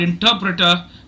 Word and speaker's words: interpreter: course yeah okay so the word interpreter is stressed on the second syllable it is a four syllable word and there is only